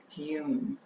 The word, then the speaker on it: YUM: That's spelled Y-U-M and pronounced YUM.